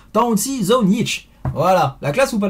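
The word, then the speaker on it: Tonči Zonjić: yop est pour toi donc ça se prononce j'espère faire honneur attention talent shiso nietzsche et donc même si ça se lit ton qu'ils ont gic va non ça se prononce temps aux ciseaux nietzsche voilà la classe ou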